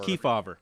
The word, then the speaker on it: Kefauver: Kefauver hearings keeper I looked it up he's pronounced Kefauver I always say so we will have a